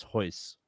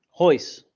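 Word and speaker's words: Royce: with the h well other names start with an R but it's pronounced like an H there's Euler there's henzo there's Ryan and then there's hoist hoist that's the one always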